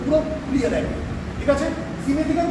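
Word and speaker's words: simethicone: সিমেট্রিকন অনেকে সাইমেট্রিকন বলে, actual pronunciation হচ্ছে সিমেট্রিকন।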